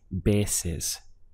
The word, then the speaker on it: veces: A veces. Literally, it means at times. But we can also use it for sometimes. Notice that we have a strong B sound over the V. So the sound is veces.